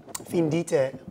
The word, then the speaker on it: Findite: Findite.